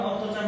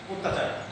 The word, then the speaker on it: অত্যাচার: দ্বিতীয় বর্ণের সঙ্গে জপনা থাকার কারণে স্বরের মতো উচ্চারণ না করে তার উচ্চারণটা করতেছি আমরা ও এর মতো। অর্থাৎ শব্দটা লেখা আছে অত্যাচার, কিন্তু আমরা সেটাকে শুদ্ধ বা প্রমিত উচ্চারণ করতে গেলে বা আমরা যখন এটা সঠিক উচ্চারণ করব তখন অত্যাচার না বলে আমাদের বলতে হবে অত্যাচার, এর কারণ হচ্ছে দ্বিতীয়